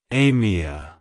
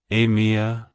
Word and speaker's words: Amia: cultures it's pronounced as Amia Amia Amia to pronounce it correctly emphasize the a sound at the beginning followed by a soft me and ending with a short sound like hello Amia goodbye